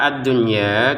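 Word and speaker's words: الدنيا: Untuk kata ad-dunya kita bacanya jelas. Jadi nun sukun bertemu ya tapi di dalam satu kata ya.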